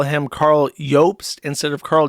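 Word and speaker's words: Jobst: people call him Carl Yops instead of Carl Jobs, even though that's how it's pronounced because it's a Germanic name.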